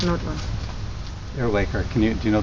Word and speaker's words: Earwaker: and spell it for me okay Megan aaker pronounced and it's m e g a n and